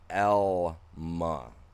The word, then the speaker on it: Alma: Yeah, no, it's Alma, but it's pronounced Elma, not Alma. You get the all from having two L's. If you have one L, it's an L sound.